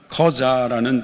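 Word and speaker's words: 客家: 그래서 이들을 하카라고도 하고 보통화로는 커자라는 발음을 하기도 합니다.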